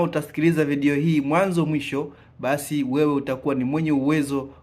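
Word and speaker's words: باء: Hebu na wewe tamka ba ba. Nadhani umetamka vyema. Wengine waswahili husema be lakini wenyewe waarabu wanaita ba.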